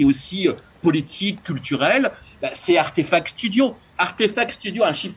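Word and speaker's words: RTFKT: artefact effectivement qui c'est qui s'écrit d'ailleurs RTF KT mais qui se prononce à artefact donc c'est à aussi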